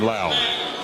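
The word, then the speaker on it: Lowe: and they pronounce it it's spelled l-o-w-e they're pronouncing his name landon lao so we'll call him lao as the panthers starters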